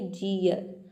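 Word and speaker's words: jeer: For example जैसे कि यहाँ पे देखिए जीयर, यहाँ पे जे का हो जाएगा ज और डबल ई का हो जाएगा ई अ, और इसमें जो आर है इसको हम आधा र के सामने प्रोनाउंस करेंगे, आधा र हो जाएगा, ये हो जाएगा जियर।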